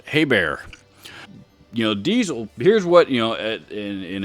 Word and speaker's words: Diesel: however i do recognize the diesel or diesel as it is pronounced in german is in fact a